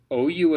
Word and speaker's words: aux: Lots of letters for basically nothing. AUX is O, O, O. Just a nice round O. Not in the nose, nothing.